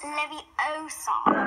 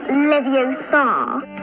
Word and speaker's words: Leviosa: It's Leviosa. Not Leviosa.